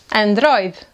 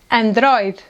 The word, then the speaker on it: Android: And this one: “ANDRÓIDE”, “ANDRÓIDE”.